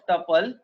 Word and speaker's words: tuple: लिखा है you can think of tuple pronounced as tuple rhyme with couple as those lists which cannot be changed.